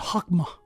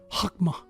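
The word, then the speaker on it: חכמה: noun it's feminine it's chakma some people uh pronounce it hakma not with the CH it's h hakma wisdom comes from the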